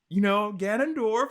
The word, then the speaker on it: Ganondorf: Did I pronounce his name right? Ganondorf, yeah.